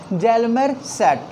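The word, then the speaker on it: Hjalmar Schacht: ठीक है ना, स्पेलिंग देखेंगे थोड़ा सा कॉम्प्लिकेटेड लगेगा आपको, बट इसको हम लोग बोलेंगे जेल्मर सैट।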